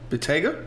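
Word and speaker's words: Bentayga: How do you know it's not Bitaya? I checked the spelling and the pronunciation. Bottega?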